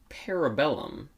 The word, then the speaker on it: parabellum: wick chapter three the parabellum peribolum problem primium parabellum what does that mean can you look at that it's spelled exactly how it sounds para bellum released or going to